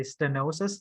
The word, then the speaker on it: stenosis: bit difficult because you have to really say stenosis, not stenosis. Stenosis. Yeah, don't forget the E. Just forget the E. It's stenosis. Okay, So you see that EH, okay, not air. You don't pronounce air. It's okay. So STE. Yep, good.